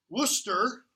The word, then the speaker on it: Worcester: of his people which are in okay so Worcester turn to the dramatis personae that's how it's pronounced by the lights not more chest ER Worcester was Northumberland younger brother Northumberland its Henry Percy